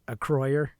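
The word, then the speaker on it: Acroyear: Is pronounced Acroyer.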